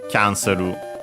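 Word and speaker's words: キャンセル: But yeah, so yeah, cancel becomes kya, cancelu. As for its accent, quickly check. Yeah, like in English on the ka, cancel, and so on the kya in Japanese.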